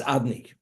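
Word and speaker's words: אדני: Even the four-letter name of God, Yud Kei Vav Kei, we don't pronounce it according to its spelling, but we pronounce it as if it would be written as master. It's referred to as Adni.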